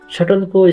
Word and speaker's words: subtle: सटलको spelling SUBTLE सटल भयो भने यसको उच्चारण सटल हुन्छ।